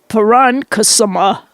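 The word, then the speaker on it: poronkusema: What does this word mean? Parankasama. What? You pronounced it right. What is it? P-O-R-O-N. Let me write it down. P-O-R-O-N-K-U-S-E-M-A. And it's Finnish, so you might not know it.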